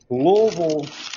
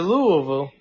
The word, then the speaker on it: Louisville: going back to Louisville oh is that how you say it down in the South Louisville it's Louisville no it's cool Louisville they're going back to Louisville no it's not Louisville man then uh there's not three syllables going back to that